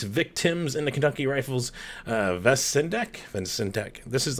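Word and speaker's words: Vacendak: Got Hollywood Punks, Victims, and the Kentucky Rifles, Vesendek. This is like the episode where I'm kind of learning how to pronounce some things here. Vasendek.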